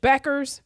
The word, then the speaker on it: Bueckers: And Paige Bueckers, rhymes with checkers.